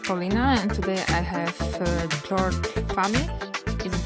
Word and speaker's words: George Fahmy: So welcome back to Bits and Bolts with Paulina, and today I have George Fahmy. Is it correct pronunciation?